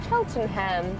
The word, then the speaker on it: Cheltenham: trekked it out to cheltenham is that how you say it cheltenham cheltenham like buckingham my surname but not